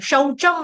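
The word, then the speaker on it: शौचम्: सुनो मेरी बात सुनो जब आप शोचम बोलोगे ना शोज एक मात्रा दोगे ना तो उसका मतलब हो जाएगा टॉयलेट सुसु करना शोच कहते है ना वो शोच के लिए गया सुसु पार्टी बाथरूम में गया शोज करना जब शचम आएगा तो उसका मतलब क्या हो गया पवित्रता सौम हां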